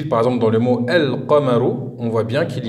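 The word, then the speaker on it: القمر: Donc je répète, on écrit le lemme, ici on voit bien qu'il est écrit. Et écoutez, on le prononce. On dit el-qamaru.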